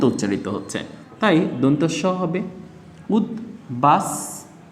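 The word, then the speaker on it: উদ্বাস: এস এর মত উচ্চারিত হচ্ছে তাই দন্তস হবে উদবাস তু তৈয় রসু আচ্ছা এখানে কি রয়েছে দর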